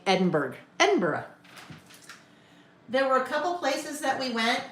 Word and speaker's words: Edinburgh: Um, Edinburgh. Edinburgh. Ed in Edinburg. It looks like Edinburg. And the quickest way to show that you are not from Europe is to say Edinburg. Edinburgh.